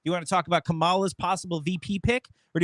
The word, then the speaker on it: Kamala: She's Well, you pick Kamala. Kamala. Done. You pick. And now look, Kamala. It's Kamala. You're not saying it right.